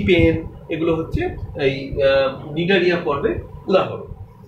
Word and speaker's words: Cnidaria: আর এই পর্বে আমি নিডারিয়া এবং টিনোফোরা এই দুটো ফাইলাম আমি পড়াবো। তোমরা নিডারিয়া স্পেলিংটা একটু দেখো, CNIDARIA, সি অর্থাৎ সি এর কোনো উচ্চারণ হয় না, সাইলেন্ট।